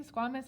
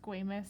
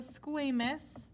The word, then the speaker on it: squamous: have squamous squamous i always want to say squamous it just looks like squamous but i it's pronounced squamous so squamous which means flat and i always think of